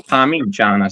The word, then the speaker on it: Parmigiana: It's an I, right? And pronounce it's Parmigiana. So it's no A, it's no O, it's nothing else.